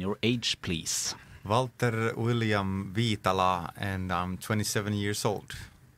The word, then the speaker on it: Viitala: Was that right? Viitala. Yeah, now you guys got it.